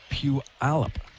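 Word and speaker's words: Puyallup: I looked it up. It's pronounced Pew Alip Washington.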